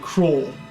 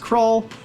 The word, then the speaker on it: Krull: Now, I always thought when I was growing up that the movie was named Krull. I've recently, maybe the last couple of years, figured out that it was actually pronounced Krull.